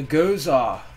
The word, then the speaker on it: gose: um today we got something a little different i'm going to try a a gozah that's how it's pronounced or goes up goes up okay it's